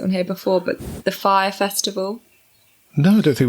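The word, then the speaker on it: Fyre: here before, but the Fire Festival. No, I don't think we have. It's spelt F-Y-R-E, Fire Festival.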